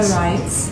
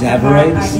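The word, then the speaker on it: tsavorites: Zabarites. Yeah, you spell it T-S-A-V-O-R-I-T-E-S. Zabarites?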